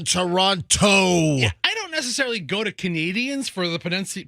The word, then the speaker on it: Toronto: the road in uh Toronto over the weekend they were in Toronto no no no don't say Toronto like Tonto uh I had some Canadian rip me you don't say the T in Toronto go to Canadians for